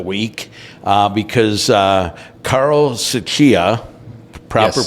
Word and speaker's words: Tsuchiya: partner of the week uh because uh Carl suchia proper pronunciation good is a partner helmuth and Johnson